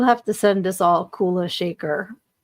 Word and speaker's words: Kula Shaker: Okay, Kula Shaker is how you say it, but I don't know who that is.